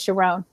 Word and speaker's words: Sharon: to a wedding where the rabbi pronounced the name Sharon Sharon and she came and told me that and my whole body vibrated and I said that's my name so then I switched with three days and it was sharone Wow so he's the